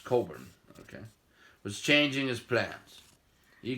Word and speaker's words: Cockburn: At about the same time, the British Admiral Sir George Cockburn, pronounced Coburn, was changing his plans.